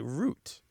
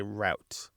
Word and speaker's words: route: a little unusual that in the Western United States people are more likely to say root um but not always and in the Southern and Midwestern us people are more likely to say route both of these pronunciations are very common in the United States and Canada and the UK and Australia but in the US